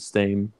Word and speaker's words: Steem: on the blockchain called steam they like split the same way so it takes like it's it's spelled like esteem esteem like you're going up in esteem in my book or